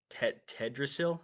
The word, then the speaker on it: Teldrassil: I am a night elf, and I was born and raised in Tedrasil. Am I pronouncing that right? The Teldrassil.